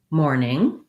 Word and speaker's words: morning: or more morning uh the other challenge here may be that the n-i-n-g sound that second syllable is challenging just watch out that for the n sound in mourn the front of your tongue lifts and in the n-g